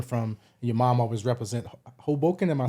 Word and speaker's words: Hoboken: you was coming from, your mom always represent Hoboken.